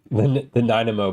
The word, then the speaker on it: Nanaimo: The Nanaimo bars.